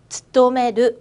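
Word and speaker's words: 勤める: 츠토메르 뭐라고요? 츠토메르라고 읽을 거예요.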